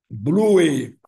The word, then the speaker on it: blue: Essa é a pronúncia correta. Blue. Apenas uma sílaba. A tendência nossa duas sílabas.